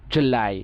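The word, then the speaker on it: July: করতে গেলে বলতে হবে জুলাই, ঠিক আছে, লাই একটু চাপ দিয়ে জুলাই, জু একটু লং সাউন্ড হবে জুলাই, জ উ জু ল আই, এটা হচ্ছে ডিফথং আই, তাইলে হবে জুলাই।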